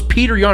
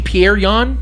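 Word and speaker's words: Petr Yan: you don't weird thing I thought his name was Peter Young it's actually pierreon Pierre on so no it's not your fault I because it's spelled Peter okay here's here's the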